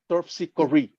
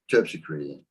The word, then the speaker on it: Terpsichore: Okay, so you pronounce the R-E like R-E-E. Terpsichore. Terpsichore.